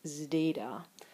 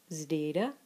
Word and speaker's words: zeta: And our final consonant is zeta. And this is for, again, a combination consonant for sigma and delta. It's pronounced both zd and dz, So you'll hear people doing that both ways.